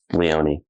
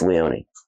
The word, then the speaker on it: Leone: written and directed by Damen Leon is that how you pronounce it I think so Le Leon one of our fans please correct chat correct us chat chat correct us correct us chat pretty sure it's Leone and stick to the end